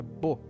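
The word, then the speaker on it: בוא: No hebraico original, trazei vem da palavra bo, né? Pronuncia bo, que significa vir trazendo uma devolução, não uma oferta arbitrária, era algo que já pertencia a Deus.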